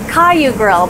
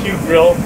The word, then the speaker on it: KYU GRILL: right and you see i thought it was pronounced caillou girl but it's actually pronounced yeah you know girl